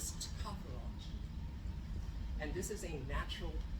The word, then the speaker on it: tocopherol: Its technical term is called tocopherol. It's also can be pronounced tocopherol.